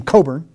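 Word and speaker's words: Cockburn: And this guy, he actually pronounces his name Coburn. The British pronounce it Coburn.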